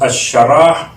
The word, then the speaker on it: الشرح: ہے سورہ مبارکہ الشرح، اس کا ایک انداز تلفظ الشرح، ایک انداز تلفظ الانشراح، ایک انداز تلفظ ہے نشرح.